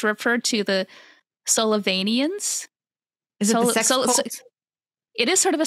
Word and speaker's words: Sullivanians: for me to say sullivani sullivanians I'm pretty sure that's how you pronounce it um but it was